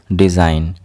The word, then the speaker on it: design: Here G will be silent. Design. Design. Here G is silent.